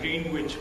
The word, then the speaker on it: Greenwich: ticket triangle square and Greenwich peas the chap start adjusting and it is not Greenwich because in Greenwich and knowledge the W is silent do you know I